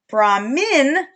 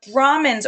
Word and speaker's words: Brahmin: So Brahmin, supreme universal spirit, Brahmin, with an I in that second syllable, are priests, and they're the only ones who had contact with deities.